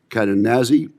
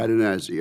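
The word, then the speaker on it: Cadenazzi: Cadennazi, Assistant Secretary of Defense for Industrial Base Policy, and sir, I hope I pronounced your name exactly correct. You did, absolutely, sir. Cadennazi, okay.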